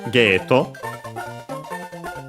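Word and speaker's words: ゲート: But yeah, in our case is simply midway and after that we get ghetto from English gate. Uh yeah again the a becomes long a uh we have to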